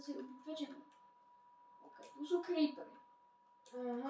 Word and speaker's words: Creeper: OK, tu sú creepery. Aha. Kroper. Creeper. A ďalší kroper. Bežte do Ty jak vyslovuješ kroper? Ale ja to vyslovujem zo srandy, vole.